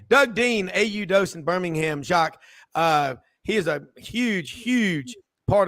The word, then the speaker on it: Jacques: Is the S silent on your first? It's Jacques. Yeah, the S is silent.